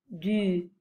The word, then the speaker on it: du: Les formes de l'article partitif sont, pour le masculin, du, hein, on prononce ce U comme en mettant la bouche arrondie, du.